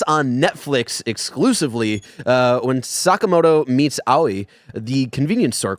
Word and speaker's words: Sakamoto: to uh drill into my head that it's Sakamoto because a game that you and I both love Persona 5 uh they pronounce it ryuji sakamato and uh that is wrong and that is